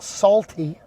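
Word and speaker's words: Saulti: To which Brian Sharp says, that's a salty, pronounced salty, S-A-U-L-T-I. It's an anagram of salty.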